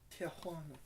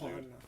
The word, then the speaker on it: Tijuana: Tijuana. No, dude, you're adding an extra syllable, Tijuana.